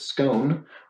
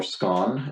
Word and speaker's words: scone: you wed them tea with tea go with scone or scone as it is pronounced in some parts of the uk at